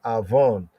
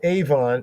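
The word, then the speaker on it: עָוֹן: Hebrew sense right there this word Aon not Avon and know looks like Avon right Avon Buton in ancient Hebrew been Martin pronunciation Aon Aon Aon right so right here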